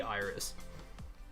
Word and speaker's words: Iris: If it was based on the Greek word rainbow and the goddess that brought rainbows and linked the gods to humanity, that it's pronounced fucking Iris. It has to be. Like, it has to be Iris.